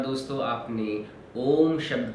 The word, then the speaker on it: ओम: ओम शब्द 3 दूसरे शब्द आ, उ और म। आ, उ और म, इन 3 शब्दों से ओम शब्द का निर्माण होता है। जब भी ओम का उच्चारण होता है तो इन तीनों शब्दों को हम एक साथ एक ही लय में उच्चारित करते हैं, तब हमारे ओम शब्द की ध्वनि उत्पन्न होती है।